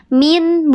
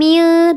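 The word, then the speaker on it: مِن: Min, bukan mil, tapi min.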